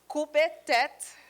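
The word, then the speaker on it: koupe tèt: what's written in red it's pronounced Koopa debt which means cut heads and then Bullock I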